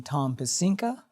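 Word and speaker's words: Tom Pecinka: And you did an extraordinary job in finding Tom pesca. Am I pronouncing that correctly?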